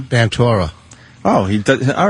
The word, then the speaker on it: Ventura: Ventura. Oh, he does. All right, thank you. Yeah, he pronounces it Vantora. Vantora.